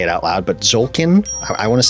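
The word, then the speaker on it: Tzolk'in: it out loud but zolkin I want to say I don't think you pronounced the T it's zulkin the Mayan calendar this is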